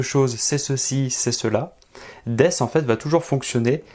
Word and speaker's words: です: c'est des alors oui c'est écrit d ce mais le ce final on ne va pas le prononcer ça va donner des des c'est l'équivalent de